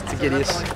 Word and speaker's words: Aegidius: How do you say your last name? Aegidius? Perfect. Yeah. I've been saying it Aegidius until 2 seconds ago. It's Aegidius.